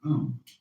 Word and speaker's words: Om: mantras is of course the sound own that sound is used because if you spell it out a u m it runs from the back of your throat to your lips and therefore it contains the whole range of The Voice and for that reason